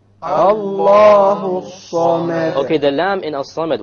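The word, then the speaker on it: الصَّمَد: The sad is a solar letter, which means we drop the lam when we have the alif lam there.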